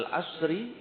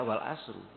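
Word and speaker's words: والعصر: Gak boleh dibaca wal asru. Wal asri artinya demi masa, demi waktu. Sumpah. Kalau kita membacanya wal asru dan artinya dan kan beda ya.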